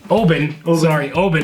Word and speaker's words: Oban: We are very excited because Jason was kind enough to bring his Oban is the pronunciation, 18-year Oban.